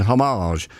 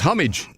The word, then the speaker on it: homage: it's funny because p people do think they're being very civilized and are Cut Above by saying homage but it's that isn't a French word it's an English word and it's homage yeah and the trouble